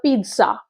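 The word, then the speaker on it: pizza: How much is দ্য পিৎজা। Okay, প্রোনাউন্সিয়েশনটা পিৎজা হবে।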